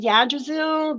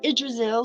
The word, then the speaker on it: Yggdrasil: a tree so ichazel I used to call it yajizu but it's actually idrisil so that was something new I learned I've been pronouncing it wrong for 30 years go figure that's me